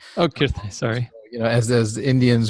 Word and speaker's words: Kirtane: Second, as you know, it's actually pronounced Kirtane. Oh, Kirtane, sorry.